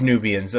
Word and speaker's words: Nubian: position these Nubians because and it is Nubians somebody the comments was saying that I'm pronouncing Nubian wrong I've literally never in my entire life heard it any other way than that I mean how else would it be pronounced nub Ian or something okay yep some nice